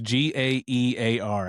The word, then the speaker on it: Gaear: Gare. I just say Gare. Gar. Like it's Gaear, but I just say it like it's Gare.